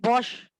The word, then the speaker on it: Bosch: Ma'am spelling क्या है? बेटा BOSCH, बॉश, एनसीईआरटी में दी हुई है ये, BOSCH, बॉश प्रोसेस।